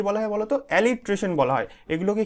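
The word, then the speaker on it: alliteration: এইভাবে উচ্চারণ করবে, অ্যালিট্রেশন, বুঝতে পারলে?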